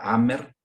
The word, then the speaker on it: Hammer: Bueno, otro hombre de ciencia que fue se llama Dean Hammer, que es un biólogo genetista, con H muda, Hammer, si quieren lo pueden